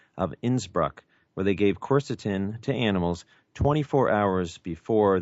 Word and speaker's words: quercetin: Well, one of them is a bioflavonoid called quercetin or quercetin. I've heard it pronounced different ways.